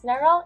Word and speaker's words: Narl: mispronounce my name but my name is pronounced as narl it's like Merl but with an N before we begin I